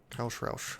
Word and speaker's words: Roush: Roush guy rhymes with cow. Roush.